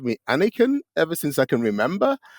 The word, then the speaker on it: Aniekan: they realize oh uh is it pronounced like Anakin like in Skywalker and so I usually say